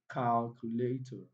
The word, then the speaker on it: calculate: And I told you words that has ATE, you count three syllables from the end, you count backwards. So eight, one, two, three. So the primary stress falls on cal.